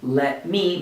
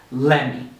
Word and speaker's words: let me: Instead of saying let me many times in a sentence, we're going to say let me.